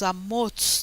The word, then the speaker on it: Amoz: Mas eu pus como se pronuncia em hebraico. Por quê? Porque esse Amós, Amoz, na realidade, não tem nada a ver com o profeta Amós.